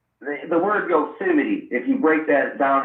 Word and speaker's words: Yosemite: the tribe the yo the yosemite basically is how you pronounce it i mean those who